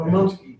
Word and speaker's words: Rominski: Well, actually, I talked to him, he said the proper pronunciation in Polish is Oh, okay. Romanski.